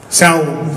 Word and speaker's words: Samhain: But I think it's pronounced Samhain. Samhain, right?